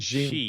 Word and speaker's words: Xi: Xi. It's like she. It's not she and it's not Z. It's like a mix.